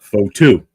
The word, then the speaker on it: Fotu: Remember, think of photo, but Fotu. Lucky Fotu, not Lucky Fotu.